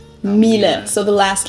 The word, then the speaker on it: Miele: high-end domestic appliances and it's not exactly pronounced wrong in english but english native speakers usually say something like that so it usually sounds more like an a in the end whereas in german we say mile mile so the last